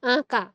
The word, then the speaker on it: আঁকা: দেখো করছো, নাকের কোনো ব্যবহার নাই, কিন্তু আমি যখন আঁকা বলছি তখন কিন্তু আমার নাসিক্য হয়ে আসছে।